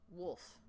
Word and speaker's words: WOF: And WOF is pronounced wolf. Wolf.